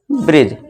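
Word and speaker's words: bridge: तो यहाँ पे डी क्या हो जाएगा, हमारा साइलेंट हो जाएगा, यानी इसका प्रोनाउंसिएशन उच्चारण नहीं देंगे। तो इसे क्या पढ़ेंगे, ब्रिज।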